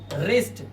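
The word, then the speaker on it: wrist: रिस्ट। यहां आर से पहले डब्ल्यू है तो ये साइलेंट किया गया है।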